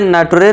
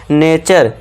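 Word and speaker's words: nature: अब इसे नटरे नहीं पढ़ना है। इसे क्या पढ़ना है? नेचर नेटर भी नहीं करना है। यहां टी यू आर ई का साउंड च करना है।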